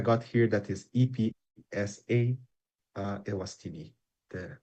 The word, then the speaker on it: Eswatini: Yes, just to correct, I got here that is EPSA Ewastini, the right pronunciation for them.